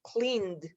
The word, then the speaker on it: cleaned: Cuando esa N, perdón, si esa N sí tiene sonido, se va a pronunciar como una D, cleaned.